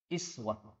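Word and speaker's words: أسوة: Uswatun Hasanah iswatun Hasanah rata-rata ulama qiroat membaca iswah tetapi kita biar Aa Imam Hasyim di Indonesia ini membacanya Uswah kemudian Ibrohim disini bisa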